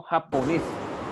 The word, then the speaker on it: japonés: Yo digo japonés. Japonés. Al decir japonés, quiere representarme que la última sílaba tiene acento y es aguda.